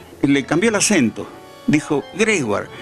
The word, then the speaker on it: Gregoire: digo me bautizó porque mi apellido auténtico es Gregori y la pronunciación es Greguar, es un apellido francés. Pero él le dio, le cambió el acento, dijo, "Gregward y me gustó y quedó así no más."